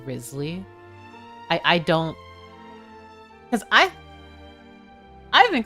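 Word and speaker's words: Wriothesley: Like I look at it and I'm like, oh, is that Rio Tesley? And then people are like, no, it's Risley.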